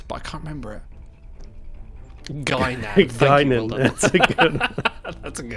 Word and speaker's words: Guinan: Guinan. Guinan. Well That's a good one. That's a good one. Well done, Craigie. It's pronounced Guy. It's Guinan. It's French.